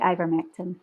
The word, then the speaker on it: ivermectin: But is it ivermectin? Is that the correct pronunciation? Yeah, that's right, ivermectin.